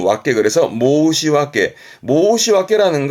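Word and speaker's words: 申し訳: 뒷글자가 역자인데 발음은 왁게 그래서 모시왁게.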